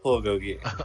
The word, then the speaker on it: bulgogi: It's pronounced bulgogi.